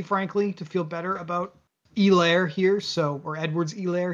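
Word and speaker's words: Helaire: be very excited to play clyde edwards e-lair i think they didn't let us forget that that's how you say that dude they made sure that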